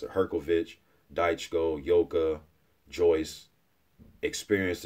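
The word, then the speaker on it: Hrgović: of the Romanian subscribers told me how to pronounce at her kovitch dice Co yoga Joyce experienced as hell and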